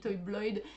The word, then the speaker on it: Toybloïd: Alors on a peut-être un peu de mal à le prononcer, on ne sait pas si c'est Toy Bloid, Toy Bloid.